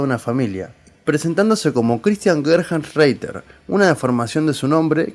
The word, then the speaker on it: Gerhartsreiter: Empecemos por decir que me van a tener que disculpar que no diga su apellido, pero es que se pronuncia... Christian Gerhardsreiter.